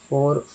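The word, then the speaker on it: for: भी आर है ना, तो आर जब भी लास्ट में रहेगा तो 10% 20% ज़्यादा उच्चारण नहीं करना है, घसीट करना है। तो एफ ओ आर को क्या बोलेंगे, फो, और एफ ओ यू आर को फोर, फो फोर, फो फोर, अंतर हो जाता है।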